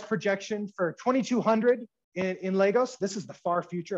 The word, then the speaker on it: Lagos: going to be about lagos nigeria it's pronounced i think more or less lagos not lagos just in case pro tip i got it wrong a lot so an overview of